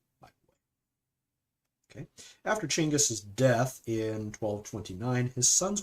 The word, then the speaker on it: Genghis: The first Mongol Empire was founded by Chinggis, not Genghis, Chinggis, but it's spelled G-E-N. It's pronounced Ch, but anyway, in 1206.